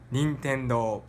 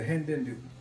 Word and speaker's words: Nintendo: Nintendo. Yeah, so that was the native pronunciation on Nintendo. Did you grow up saying it in any kind of American way? Yeah, you said the Hindendo.